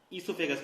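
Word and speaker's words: oesophagus: वो से हुआ है, लेकिन ओ साइलेंट, आपको इसोफेगस पढ़ना है इसको, ठीक।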